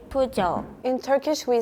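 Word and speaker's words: Peugeot: than I think so in France we say pu in Japan we say pu in Turkish we say either P or p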